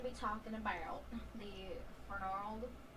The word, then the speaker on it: Fernald: Okay, so I'm going to be talking about the Fernald. How do you say it again? I'm going to see it. Fernard.